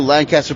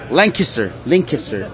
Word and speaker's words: Lancaster: school over there, and I just moved to Lancaster, Pennsylvania. Wait, sorry, Lancaster.